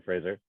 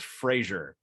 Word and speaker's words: Frasier: can see you watching Fraser okay it's pronounced Frasier not Fraser but his producer Ross